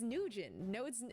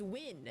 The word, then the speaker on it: Nguyen: And I've heard the name Nguyen pronounced so many different ways because of that, and people be like, no, it's Nugent, no, it's Win, and I'm like, Nguyen.